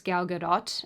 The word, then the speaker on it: Gal Gadot: Outside of a handful of super controlled interviews given by actress Gal Gadot, and I know I'm saying that right because I said it wrong last time and you guys roasted me, and so I'm trying really hard.